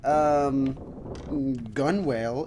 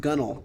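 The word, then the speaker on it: gunwale: Upper edge of a vessel's side, generally pronounced gunnel. Oh, I'm sorry, it's gunnel.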